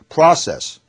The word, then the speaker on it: process: 이를테면 O에 액센트가 있으면 전부 아 발음인데요. process, 그죠? 과정. O에 액센트가 있으면 프로세스가 아니고, 프로세스는 외래어고 한국말이고, process 그렇게 되죠.